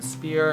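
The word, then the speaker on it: Spier: year old boy named simon spear and it rhymes with beer um i don't know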